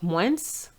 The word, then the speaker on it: moins: The moins is not moins, but moins. The S is silent.